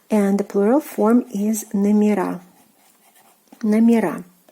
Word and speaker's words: номера: Номер, meaning number, and the plural form is номера. Номера. We are adding the stressed ending A.